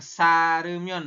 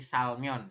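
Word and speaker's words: 살면: Bukan sarumyon bukannya, tapi salmyon ya.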